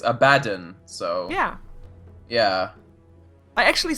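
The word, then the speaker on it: Abaddon: been told cuz yesterday I got criticized for pronouncing abdon I I called him abdon okay but and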